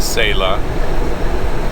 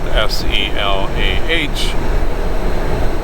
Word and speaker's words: Selah: So I would say technically the place I'm picking up is in Selah, which is spelled S-E-L-A-H.